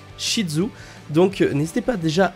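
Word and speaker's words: Ishizu: de Marek isidzu donc shidzu moi personnellement je le prononce shidzu donc n'hésitez pas déjà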